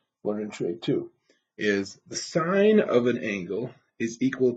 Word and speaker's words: sine: just put SI n so sin is not pronounced and it's pronounced sine all right Coast this